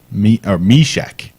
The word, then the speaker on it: Meshek: Mashek. I'm saying it right. Meshek. Not Mashek, Meshek.